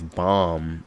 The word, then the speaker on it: bomb: Because nobody says bomb, which is spelled BOMB, like bomb with a B at the end, how it's spelled.